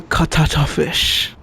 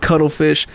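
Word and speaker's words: cuttlefish: let me get one katata fish I stopped him and I should have let him but I'm like no dude it's pronounced cuddlefish keep in mind that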